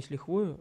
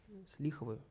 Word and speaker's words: с лихвою: Не с лихвою, а ударение на с лихвою.